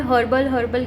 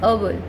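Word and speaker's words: herbal: Even हर्बल भी also, ये अर्बल होता है, हम नॉर्मल भाषा में हर्बल कहने लगे हैं, बट इट इज़ अर्बल, ओके।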